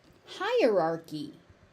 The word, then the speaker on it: hierarchy: Hierarchy. Hi. So the Y is pronounced as an E on the end.